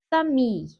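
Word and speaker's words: famille: bakalım Fransızcada kelime vurgusu genellikle son hecededir fami bakın sona doğru bir Eee harfi bastırıyorum fami fami soru cümlesinde ise tela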